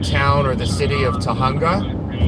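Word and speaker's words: Tujunga: or the city of tahunga spelled with a j for all you gringos okay sapien haggis says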